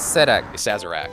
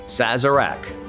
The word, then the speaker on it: Sazerac: will not regret it a sazerac sazera says sazerac sazerac it's a great drink it's also a great